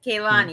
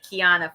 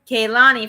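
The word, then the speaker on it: Kelani: no you're just gonna take it okay with keilani because that's her name oh I said I said it wrong yes you did it's you sounded like you said Kiana for it I was like there's already a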